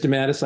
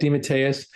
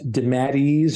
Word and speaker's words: DeMatteis: I accept that. I accept DeMatteis. I do not accept DeMatteis or any other of those weird pronunciations. Those are the only two that are approved with the DeMatteis family crest.